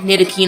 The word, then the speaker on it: Ntilikina: That's Kristaps and Frank Ntilikina.